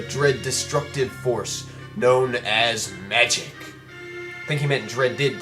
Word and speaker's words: Magi: a scorched wasteland, and magic simply ceased to exist. I've heard it is actually pronounced Magi, so that's what I'm going to call it.